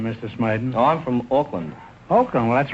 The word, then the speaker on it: Auckland: Oh, I'm from Auckland. Auckland? Well, that's right across the bay from San Francisco, isn't it? No, Groucho. Auckland, A-U-C-K-L-A-N-D. I don't care how you spell it.